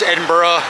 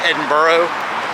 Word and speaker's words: Edinburgh: And I pronounce Edinburgh, Edinburgh. Some people call it Edinburgh, some people call it Edinburgh, but the locals seem to pronounce it Edinburgh, so that's what I'm gonna go with.